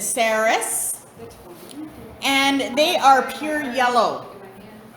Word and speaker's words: Ceres: Some people will pronounce it Ceres as well, like fairies, Ceres. But our tradition is Ceres.